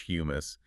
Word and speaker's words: humus: It has been transformed into a stable, spongy, carbonrich matrix called humus. Humus. Wait, like the dip you eat with pita chips? No. is spelled with one M. H U M U S.